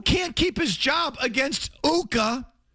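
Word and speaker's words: Ukko-Pekka: For this stiff who can't keep his job against Uka, rhymes with Tuukka, Pekka Luukkonen.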